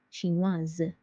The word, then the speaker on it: chinoise: Chinois, chinoise, chinois, chinoise. Suédois, suédoise, suédoise. Because S is between two vowels, I and E, it's pronounced as Z.